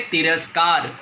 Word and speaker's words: तिरस्कार: ज़रूर महसूस किया होगा तिरस, स का उच्चारण हुआ और आपके दांत से भी टकराया, लेकिन स का उच्चारण जो है यहाँ पूरा नहीं हुआ है, यहाँ से अ जो है वो लुप्त हो गया है।